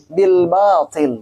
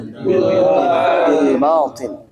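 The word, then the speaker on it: بالباطل: Bil batil, dua harokat ya. Bil batil.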